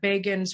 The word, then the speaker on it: Begin: they were talking about begins rise in 1977 and they said begin rhymes with fagin remember that yes um